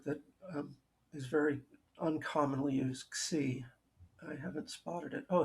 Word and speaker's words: xi: friend who's Greek who told me that all of these letters that have a whatever with an I on the end are pronounced with a E sound, xi.